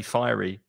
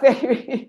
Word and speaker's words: Fairy: Fairy liquid, which is interesting because in Spanish pronunciation you say fiery. Ah, fairy. But we say fairy because fairy is other in Spanish.